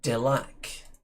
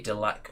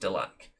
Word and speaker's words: Delaque: So, the Delac. That's how I'm going to pronounce it. I don't know whether it's supposed to be Delac or Delaque, perhaps. But I'm pretty sure it's just Delac.